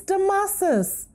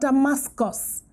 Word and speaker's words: Damasus: have had for years there's no c in my name it's the masses not damascus it is spelt a d-a-m-a-s u s not s c u s okay so it's not damascus it's masses i'm hoping that after